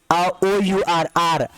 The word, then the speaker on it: hour: जैसे for example हम देखिए क्या है, HOUR, तो ये H वर्ड साइलेंट होगा, यानी इसको हम बोलेंगे नहीं, सिर्फ इतना ही बोलेंगे। OUR, R मीन्स क्या होता है, घंटा, क्या होता है, घंटा या फिर घंटे।